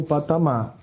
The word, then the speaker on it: patamar: a Amazon pamar outro patamar com acento no a porque o m não o r no final não fica bom mas